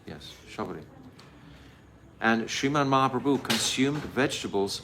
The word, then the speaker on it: Shabari: Shabari, yes, Shabari.